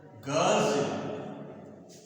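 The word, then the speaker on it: girls: तो यहाँ पर इसका उच्चारण होगा ज, तो लिखेंगे ग साउंड, और फिर ये और ल, और फिर ज, गर्ल्स।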